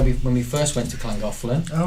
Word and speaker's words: Llangollen: You got to know how to say it properly. It's Llangollen.